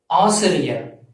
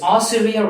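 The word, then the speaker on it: ஆசிரியர்: a teacher in some schools, your profession is Asiriyar, A-A-S-I-R-I-Y-A-R, Asiri, Y-A-R, Yar, Asiriyar. So this Asiriyar represents teacher in Tamil. So if your profession is a teacher, you have to pronounce this as Asiriyar, A-A-S-I-R-I-Y-A-R.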